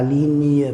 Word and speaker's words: ligne: Quand nous avons les deux lettres G et N, on prononce normalement dans le mot, on prononce ni, la montagne, la ligne par exemple, signe, signature, ni.